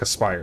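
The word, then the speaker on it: Aspyr: at the same time it's pronounced like a Spire by the way okay yeah uh they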